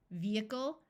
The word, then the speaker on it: vehicle: long Messiah and duh there are some other words where H is silent in the middle such as vehement vehicle and prohibition note that the root